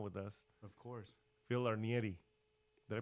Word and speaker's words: Arnieri: us of course Phil arnieri did I pronounce that right absolutely nailed the Italian pronunciation beautiful yeah awesome so